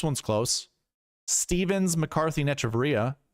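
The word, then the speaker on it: Echavarria: Stevens, McCarthy, and Echevarria, or Echevarria, I guess that's how you say his name. That's what the broadcast calls it.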